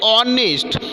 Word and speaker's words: honest: Then honest is given here, spelling beginning with the H, but pronunciation is like that honest.